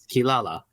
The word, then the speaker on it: Kirara: or the from Warurero the R's in Japan, yes, does translate into L's, just like in Inuyasha, the little cat Kirara, they pronounce it as Kilala.